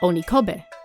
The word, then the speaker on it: Onikobe: just around your age written with the kanji for oni head and pronounced onikobe a wide basin spread